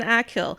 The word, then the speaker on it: Achill: I'm probably pronouncing Achill incorrectly. Achill? You know, it's cool. I'll just pronounce it Achill until somebody is... Oh, here it is, pronunciation Achill. I was getting it right!